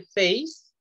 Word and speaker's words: face: Aquí se dice face, cara, face, con S, y fase de como etapa, tercera fase, cuarta fase, primera fase, fase es face, face.